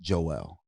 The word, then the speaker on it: Joel: in the world though it's pronounced Joelle only white Americans say Joel that is it's only a white American thing do you think that's